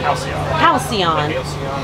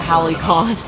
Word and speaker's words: Halcyon: and back up and one day I pronounce it right Halcyon I keep only call it Holly called so I'm about to